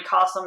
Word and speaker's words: Qasim: And when you go to his website, it's like literally Qasim, it rhymes with awesome.